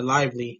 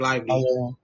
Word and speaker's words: Lively: believe I mispronounced it it's uh Derek Lively not not Derek that Derek Livy no yeah that's yeah